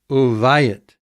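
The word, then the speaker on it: וּבַיִת: It may have originally been pronounced woo, but we can often just say oo. Uvayit, and a house.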